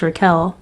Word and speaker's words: Raquel: It is pronounced Raquel, not what you said.